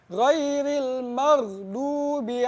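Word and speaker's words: غَيْرِ الْمَغْضُوبِ: Ghairil maghdubi alaihim. Ghairil maghdubi alaihim. Nah, ini banyak yang salah juga nih. Di ghairil maghdu, ghain itu bukan huruf qalqalah. Jadi tidak dipantulkan. Jadi ghairil maghdu.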